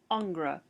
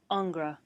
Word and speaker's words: Ingres: to be looking at angra jean auguste dominique angra or sometimes it's pronounced ang sometimes angris depending on who's talking so i'll do my